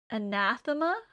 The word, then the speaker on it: anathema: Uh, it's a weird word because the stress is on the second a. Anathema, which is probably not where anyone expects it to be.